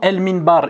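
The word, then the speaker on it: المنبر: bien il le mime c'est une lettre à maria donc le lem on le prononce maintenant elle minbar il est précédé par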